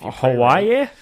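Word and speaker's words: Hawaiʻi: job doesn't happen many times but guess if Hawaii to Hawai uh I have the the pronunciation written out um it's Haya haa is is how the natives say it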